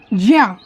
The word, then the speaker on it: ज्ञा: इसको ज्ञा बोलते हैं, जबकि इसको क्या उच्चारण, सही उच्चारण क्या है, ज्या।